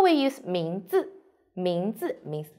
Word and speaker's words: 名字: Pay attention, the second 字 we need to light and short. 名字.